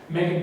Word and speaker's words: Meghan: also have on display meghan who is pronounced megan duggan's hockey stick for